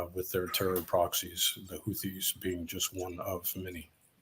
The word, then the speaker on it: Houthis: for people that don't know how do you pronounce hoi hot hodies the houthis those are yemenese Yemen they are a they